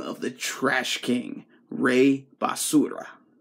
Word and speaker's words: Basura: the Trash King, Rey Basura. Basura. I'm used to saying basura, but it's basura if you don't know how to say it in Spanish.